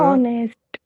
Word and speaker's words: honest: आणि त्याचा उच्चार जो आहे बघा, pronounce like a Honest. ऑनेस्ट. Correct. Of. O is vowel. Correct. Here H is silent in the pronunciation.